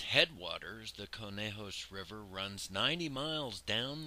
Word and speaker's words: Conejos: From its headwaters, the Conejos River runs 90 miles down the canyon to join the Rio Grande in the San Luis Valley.